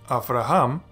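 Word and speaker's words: אַבְרָהָם: know that this is actually going to be after Ahom which means Abraham so by the end of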